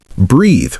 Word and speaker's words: breathe: Breathe rhymes with seethe.